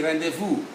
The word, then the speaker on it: rendezvous: it including z itself when you say rendezvous z is not pronounced even a when you